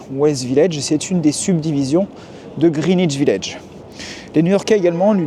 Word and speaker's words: Greenwich Village: du nom du quartier je dis greenich village pas Greenwich Village même si j'ai un double al pourquoi tout simplement parce